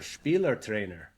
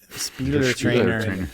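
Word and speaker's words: Spielertrainer: And he has sort of a German word that I'll get Cass to pronounce for us. Or Spieler trainer. Spieler trainer.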